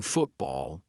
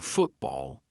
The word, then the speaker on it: football: When a syllable ends in T and it is followed by a consonant sound, we're going to use the glottal stop. For example, football. I'm not saying football.